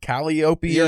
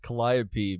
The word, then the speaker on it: Calliope: ] times and I in my head I kept reading it caliopia or something and then I looked it up oh my God and then and then knowing that it's pronounced Calliope makes it not work in